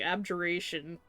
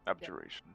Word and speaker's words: abjuration: Abjgeration. That's how you pronounce that. Yes. Abjuration.